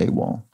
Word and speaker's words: AWOL: guess that's an acronym because we pronounce it a wall okay i think i